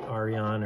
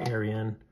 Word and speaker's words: Arion: the uh Artisan Cutlery I think it's pronounced like Ariane or Aryan comes with this really